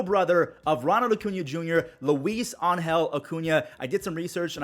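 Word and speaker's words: Luis Angel Acuña: is the little brother of Ronald Acuna Jr Luis Angel Acuna I did some research and I watched a few videos that's how you pronounce his name and look at him he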